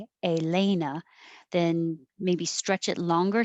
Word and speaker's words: Elena: So if you want it to sound like Elena, then maybe stretch it longer so they can hear that it's Elena.